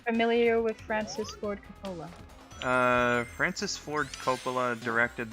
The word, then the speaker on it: Coppola: of that he's actually related to Francis Ford Ebola I did not know I'm not familiar with Francis Ford Coppola uh Francis Ford Coppola directed the first oh